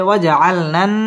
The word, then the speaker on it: وجعلنا: معاشا وجعلنا النهار معاشا ওয়াও ঠোঁট গোল করে উচ্চারণ করতে হবে ওয়াজআলনান ওয়াজিব গুন্নাহ করে পড়তে হবে ওয়াজআলনান নাহা মধ্যে তাবাই একালিফ